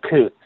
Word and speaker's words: Coates: Is that how you pronounce her name? Nicole Coates, yes.